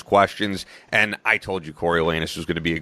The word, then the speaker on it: Coriolanus: Coriolanus, yeah.